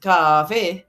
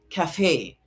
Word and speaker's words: cafe: However, because the word is inherited from the French language, French and Latin as I mentioned are second syllable stressed words. So it is pronounced cafe.